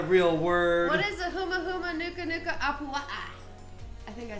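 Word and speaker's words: humuhumunukunukuāpuaʻa: Huma huma nuka nuka apua'a.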